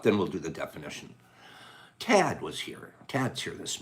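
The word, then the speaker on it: Thad: on here t-h-a-d cad i have still have a hard time pronouncing your name because that h throws me off i see it in my head but you don't pronounce it okay um what a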